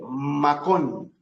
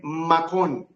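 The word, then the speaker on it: מקום: y cómo se lee se dice macón m a K o m macón macón o el macón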